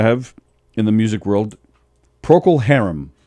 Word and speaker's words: Procol Harum: And then the other sad news I have in the music world, Procol Harum, name of a band from the 60s. Procol? Procol Harum. How do you spell it?